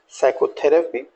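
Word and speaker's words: psychotherapy: हमने साइलेंट रखा है जैसे कि साइकोथेरेपी आप यहां भी देखेंगे यह जो पी लेटर्स है इनको भी हमने यहां साइलेंट रखा है राइट तो साइकोथेरेपी साइकोटिक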